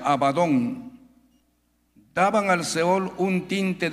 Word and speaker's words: Abadón: Su misma descripción y su sinonimia, hay una palabra también que se pronuncia Abadón, daban al Seol un tinte de pena, de